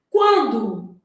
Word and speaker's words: quando: Quando o U é pronunciado aqui, ó, quan, né? A gente fala esse U, o N não, quando.